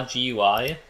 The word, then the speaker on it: GUI: show the results under draw GUI or gly if you prefer to pronounce it that way when this is